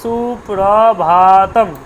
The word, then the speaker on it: সুপ্রভাতম: রয়েছে আমার ভাতম ভাতম তাহলে সুপ্রভাতম ভাটা কিন্তু দীর্ঘ বোঝা গেল সুপ্রভাতম তাহলে সুপ্রভাতটা উচ্চারণ